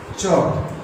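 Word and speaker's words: chalk: टॉक, WAL के वॉक, CHAL के चॉक। ये L साइलेंट हो जाता है इससे, इस टाइप के वर्ड्स में।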